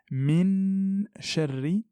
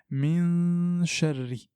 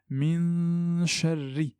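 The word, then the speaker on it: مِن شَرِّ: Je ne dis pas min sharri, mais je dis min sharri. Il ne faut pas que ma langue touche le palais pour éviter de faire apparaître le point d'articulation. Donc, je dis clairement min sharri.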